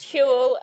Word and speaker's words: Huel: It's pronounced Huel, and we're not sponsored by them.